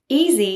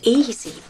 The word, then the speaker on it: easy: Easy is our next adjective. It looked easy. Notice the S is pronounced as Z.